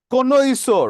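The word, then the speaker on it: connoisseur: শুধু মাংস খেয়ে থাকে কোনই সোর কোনই সোর মানে কি critical judgement of এনি আর্ট and craft এই জায়গায় একটা কোনই সোর আছে যেটার উচ্চারণ কোনই এর মত হাতের কোনই তাইতো মনে রাখতে পারি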